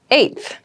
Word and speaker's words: eighth: on my 10th attempt eighth eighth eighth eth refers to the number eight of something the pronunciation might be a little tricky so be careful with this one I live on the